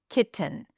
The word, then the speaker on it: kitten: Let's take the word kitten, or I'll say it fully, kitten. So, we have a ki syllable, and then we have t uh n. The vowel between the T and the N is a reduced vowel. It's a schwa.